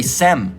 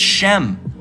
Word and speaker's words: Shem: people where the people you can't even pronounce you know uh uh Shem correctly you say sem all right it's Shem okay you don't even